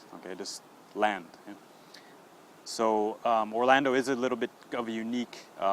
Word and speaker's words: Orlando: All right, now another common city name that is often mispronounced is in Florida. If you visit Disney World, you have to go through the city of Orlando. Okay, one more time, Orlando.